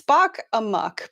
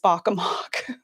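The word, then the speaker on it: Spock Amok: it's difficult so it's spock a muck because a muck am ok is usually a muck right um it feels like it should be pronounced spock a mock but it isn't uh so that's their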